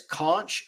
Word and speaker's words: conch: looks like it says conch but they kept pronouncing it conch like with the H is silent uh Buddy says I